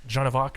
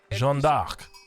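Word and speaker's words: Jeanne d'Arc: traction of the videos now I may have mispronounced jovar just then so let me pronounce it correctly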